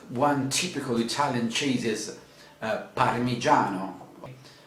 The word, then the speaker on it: parmigiano: of cheese but one typical italian cheese is parmigiano parmigiano that means may i have a bit of